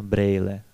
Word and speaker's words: brýle: Однако в разговорной речи здесь встречается дифтонг 'ej'. А чехи часто говорят не «týden» (неделя), а « tejden», не «brýle» (очки), а « брейле».